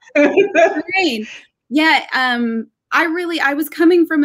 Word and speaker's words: Corayne: Can you tell me about Coraine? Is that how you pronounce her name? That's perfect. You got it. Coraine.